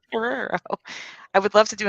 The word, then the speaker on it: Guerrero: Guerrero.